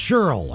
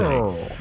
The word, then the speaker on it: Shirley: All of y'all want to wish my big sis Shirley, pronounced Cheryl, a happy double nickel birthday. Cheryl.